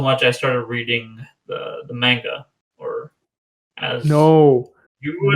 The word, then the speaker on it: manga: And then I was intrigued so much I started reading the manga, or as No, you would no, it's pronounce it, pronounced manga.